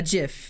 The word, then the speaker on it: gif: meant um cool a gif yes with a soft G that's exactly how it's pronounced honestly um is there